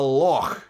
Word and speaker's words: Loch: called it a lake we call it a log you have to use a hard law like the Loch Ness monster imagine if you came